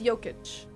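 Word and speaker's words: Jokić: That was a good pronunciation. So it's Jokic.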